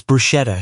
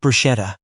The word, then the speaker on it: bruschetta: They just saw a woman at dinner slightly overdressed for October correcting her date's pronunciation of something on the menu. "It's bruschetta," she said. "Not bruschetta.